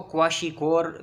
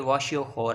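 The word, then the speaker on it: kwashiorkor: मैं तो जब 9th में था मैं क्वाशीकोर पढ़ता था, लेकिन ये वाशियोखोर है, के इसका साइलेंट है, ये वाशियोखोर डिजीज़ है, लेकिन इसको क्वाशीकोर भी पढ़ते हैं। अभी भी बड़े बड़े आदमी, बड़े बड़े टीचर्स भी क्वाशीकोर इसको कह रहे होते हैं।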